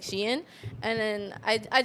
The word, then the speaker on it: Shein: No, I worked with them before and they said it's pronounced Shein.